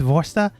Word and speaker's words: Vorsta: Actually, it's Vorsta.